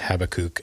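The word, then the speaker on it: Habakkuk: it weirdly and differently it actually is habakuk I think in Hebrew but I say habak because I'm American uh and Americans uh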